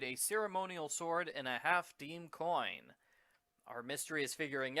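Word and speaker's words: half disme: I wouldn't have guessed that the coin is pronounced half-deem.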